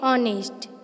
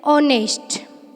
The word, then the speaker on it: honest: Note that in honest, the letter H is silent. We say honest, which begins with a vowel sound.